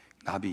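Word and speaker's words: נביא: 선지자는 성경에서 예언자라고도 표현했는데 히브리 말은 똑같습니다. 나비입니다. 나비 있죠? 그 발음이 똑같습니다.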